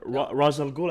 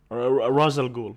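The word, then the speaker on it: Ra's al Ghul: I mean it's both right like some people pronounce it Raz al Ghul and some racial group yeah but I actually the right pronunciation is Ross Ross al Ghul yeah why why because yeah head of the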